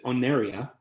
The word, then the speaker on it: Oneria: Yeah, and the world is, and correct me if I'm wrong, guys, the pronunciation of this is Oneria, Yeah.